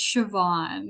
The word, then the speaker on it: Siobhan: morning good morning how are you did we pronounce that correctly uh it's Siobhan it's like a very Irish Irish name very